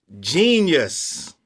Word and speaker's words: Jeen-Yuhs: Let me get the correct pronunciation. It was called Jeen-Yuhs, a Kanye Trilogy.